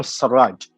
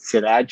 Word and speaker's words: Elsirag: So it's Abdelwahab Sarraj, but for whatever reason, I think a lot of people call it Siraj for Yes, that it's is Sudanese because Siraj is very Sudanese name.